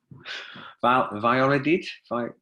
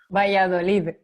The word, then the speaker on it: Valladolid: a place in Spain that I can never pronounce. Valladolid. Help me. Valladolid. Valladolid.